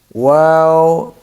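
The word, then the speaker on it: واو: Wow, you have to um, circle your lips to pronounce it correctly. Wow, wow, round. Your lips should be round.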